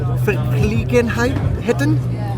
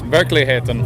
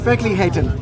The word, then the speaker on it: Verkligheten: Okay, let me try and pronounce it correctly. You got Verkligenheten? That was close. Verkligheten. Verkligheten.